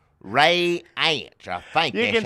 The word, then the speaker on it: Reince: Ray is like a ray, like a ray gun, and then ants crawling in your food. Ray ants.